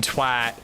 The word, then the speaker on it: twat: I was agreeing their pronunciation is correct because the wa in twat would make the at not sound.